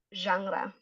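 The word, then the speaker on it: genre: pasti artis-artisnya bilang eh gener musik yang paling saya suka tuh sekarang eh jazz misalnya gitu kan. Nah, tapi kalau misalnya kalian in English make sure itu dibacanya jangra.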